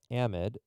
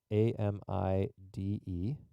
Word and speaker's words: amide: carbonyl-based functional group is called amide a-m-i-d-e or sometimes pronounced amide their way is fine and amides are similar